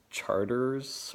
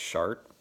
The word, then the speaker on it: Chartres: Chartres, which is, yeah, like it's spelled Charters or something or whatever, Chartres, but it's pronounced Chart.